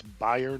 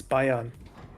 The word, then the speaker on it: Bayern: my S yep that Bayon needs to die too I'm never exactly so it's Bayern not Bayern it's Bayon okay it's been almost 20